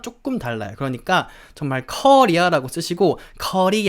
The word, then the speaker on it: Korea: 이야기를 하시는 경우가 많은데 사실 영어로 발음을 할 때 코리아 가 아니라 약간 커 리아 같은 느낌이에요 커리 카레 커리 처럼